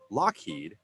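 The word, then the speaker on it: Loughead: named Lockheed Aircraft Company Lockheed l u g h e a D is pronounced like Lockheed people had a hard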